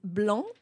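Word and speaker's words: blanc: the word um so the word is blon which means white yeah b l a n c so guys if you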